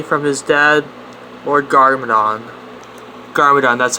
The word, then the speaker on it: Garmadon: defend ninjago city from his dead or garmadon garmadon that's how you say it when the film